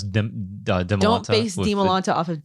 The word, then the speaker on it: Dimalanta: A lot of people say Dimalanta, like Demi. Yeah, Dimalanta. It's pronounce it like you're reading Spanish. Yeah, Dimalanta. A hard E sound with the I.